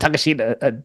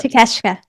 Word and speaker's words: Takeshita: I always mispronounce it. Takashita. Takashita. Oh, sorry. Takeshita. Takeshita. There you go.